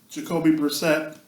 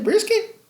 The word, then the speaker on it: Brissett: Jacksonville Jaguars at the Jacoby Brissett list. You didn't say brisket?